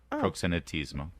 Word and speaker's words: proxenetismo: sure I I'm sure I didn't get the pronunciation right proxenetismo there proxenetismo thank you interesting okay sorry well that's that's